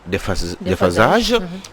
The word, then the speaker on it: déphasage: photo en déphasage défunt déphasage parce que le s entre deux voyelles se prononce donc des phasages donc voilà donc du